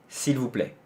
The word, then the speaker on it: s'il vous plaît: 근데 그거는 사실 s'il vous plaît는 애 빼고 거의 다 한국에서 있는 발음일걸요? C 할 때 그냥 C. 거기서는 리을만 붙이면 돼. s'il vous, v가 없구나. v가 문제구나. v가 v 여기에 나와야 돼요. 앞에서 나와야 돼요. 그러니까 푸는 아니고, 푸는 배치잖아요 소리가.